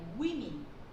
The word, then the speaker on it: women: 근데 여기서 복수용이 될 때는요, 사람들이 이 발음을 할 때 굉장히 어려워하거든요. 여자들이라는 것은 따라해볼게요. women. women이라고 발음을 하셔야 됩니다.